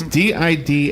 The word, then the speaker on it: Didaleusky: Is in the studio, and Greg's name doesn't look like it's spelled Didaleusky. It's Didaleusky, and it doesn't even have his first name, so it's GL if you're looking it up on.